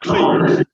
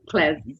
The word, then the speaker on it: CLES: Not CLEES. Not CLEES. No. Not John CLEES, but no, CLES.